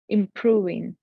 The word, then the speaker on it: improving: you please repeat uh so your top teeth need to touch your bottom lip this is this is the W sound you're saying the Woof sound now let's say the